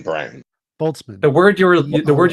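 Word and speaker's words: Boltzmann: theory so did you say it was a Bolston brain boltzman the word you the word you were imagining B pronunciation because I've been boltzman just look up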